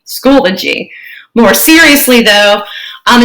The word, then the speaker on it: Schoology: how to pronounce schoology it is three syllables school o g schoology more seriously though um